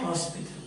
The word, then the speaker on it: hospital: The next one, a hospital. Why? It is pronounced. H is pronounced, isn't it?